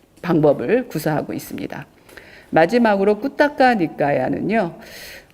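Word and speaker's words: Khuddaka Nikāya: 마지막으로 꾸따까 니까야는요. 어 꾸다까 니까야죠. 발음이음 잡부라고 많이 알려져 있는데 잡다하게 다양한 많은 경전들을 어 체계 없이 특별한 체계 없이 이렇게 모은 그런 니카야인데요.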